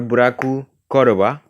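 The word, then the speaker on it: ブラッククローバー: It's Mystic Fire here to bring you guys and gals my first impression and review of Black Clover or Buraku Koroba, which is the how you say it in Japanese.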